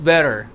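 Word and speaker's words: better: American T जो है यह टी साउंड जो होता है ट्रेन ट्रैफिक ट्रेवलर यह जो टी साउंड है यह एक्चुअली सॉफ्ट डी की तरह प्रोनाउंस होता है। इसको हम सॉफ्ट डी की तरह पढ़ते हैं। फॉर एग्जांपल इट्स बेर इट्स नॉट इट साउंड नहीं है। Soft D इट्स बेटर बेटर इट्स बेटर।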